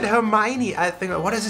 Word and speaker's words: Hermione: Hermione. Hermione. Hermione Granger? Granger? Hermione Granger. Hermione Granger. So in German it's Hermine. Hermine.